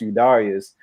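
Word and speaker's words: Eudarius: But it's spelled EU and then Darius, but it's pronounced Udarius.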